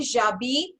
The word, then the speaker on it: j'habite: So you can say j'habite à Delhi or j'habite à Noida. Okay. J'habite. So H nahi pronounce karna.